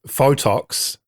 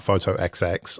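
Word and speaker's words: Fotoxx: well similarly for me photox as it's called not photo XX although that's how it's spelled was just an app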